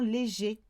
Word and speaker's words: légers: Light clothes, therefore, will be les vêtements légers. With your S, but it's silent.